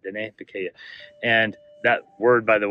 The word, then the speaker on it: Diné Bikéyah: Diné Bikéyah is how you pronounce it. It looks like Dinah Bekia or something like that, but Diné Bikéyah.